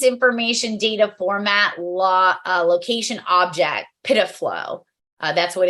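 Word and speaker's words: PIDF-LO: Presence information data format location object PIDFlow. That's what it's pronounced as.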